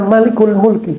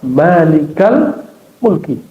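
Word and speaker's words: مالك الملك: Kalau kata-katanya sudah bentuk idofah, mudof mudofun lain ya frase barangkali dua kata maka tidak dibaca malikul mulki bacanya ya malikal mulki.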